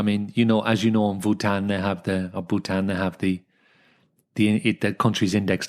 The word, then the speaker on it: Bhutan: I mean, as you know, in Bhutan they have the country's index to happiness.